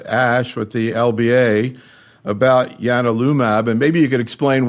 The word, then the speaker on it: ianalumab: Yeah, so this is it's spelled like IAN alumab, but it's actually pronounced ianalumab, named after the god